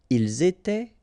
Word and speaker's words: ils étaient: nous étions, vous étiez, ils étaient, elles étaient. Alright, so exactly the same rule. Remember, final S, here, here, final T, and then here, E-N-T. You don't pronounce them.